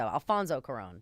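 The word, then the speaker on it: Alfonso Cuarón: Alfonso Coron. That's how you say it.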